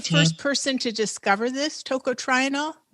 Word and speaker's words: tocotrienol: pronunciation is tocotrienol? Tocotrienol, and it's very simple.